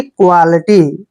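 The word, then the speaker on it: quality: इकट्ठा आता है तो इसका उच्चारण हम आधा क और व और आ की मात्रा करते हैं यानी क्वा ठीक है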